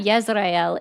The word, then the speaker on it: Israel: Just like most people don't know that Yzrael is the correct pronunciation of Israel.